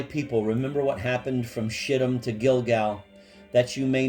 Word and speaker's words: Shittim: Marble angels looking down, and she very carefully pronounced it Shittim, as if it were French.